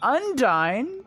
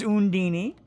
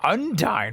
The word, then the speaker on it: Undyne: It made less sense than when I thought that Undyne from Undertale's name was Undini, because I was defended. The game Tales in Symphonia had another character also named Udyne, but they pronounced it Undini.